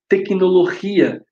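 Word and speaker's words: tecnología: Tecnologia é acentuada, tecnologia. Pronuncia o i forte, tem acento.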